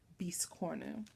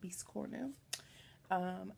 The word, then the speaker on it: biscornu: trouble with her biscornu, or as Garrett said, the local needle workshop taught him, biscornu. So I'm going to try to pronounce it properly, biscornu.